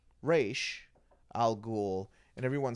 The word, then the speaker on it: Ra's al Ghul: of a sudden Talia goes, "Well, it's actually pronounced Raish.